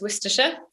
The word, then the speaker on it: Worcestershire: names and place names if you're from the uk you know that you say this worcestershire if you're not from the uk you'd be forgiven in saying it lots of other ways worcestershire isn't necessarily the immediate